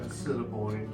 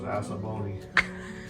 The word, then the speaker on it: Assiniboine: The original fort in Assiniboine chapel/school bell. I thought it was Assaboni.